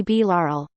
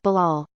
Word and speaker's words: Bilal: that one teacher would call me B Laurel I would think that's not my name that's not how you pronounce it I couldn't understand why he couldn't pronounce a name like Bilal at the age of